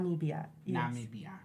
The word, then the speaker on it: Namibia: Africa's 54 countries okay how do you say it Namibia that's the English India then ethnic way is not media you just said it was an accent not me BIA yes because I always